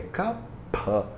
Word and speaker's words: Kapha: maneira correta, digamos assim, você não deveria pronunciar Kapha com F. F, F, F. O F, ele é lábio dental. F. E a letra, na verdade, a consoante, ela é P. Ele é Kapha.